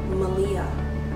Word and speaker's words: Maleah: Her name, she told me it's pronounced Maleah.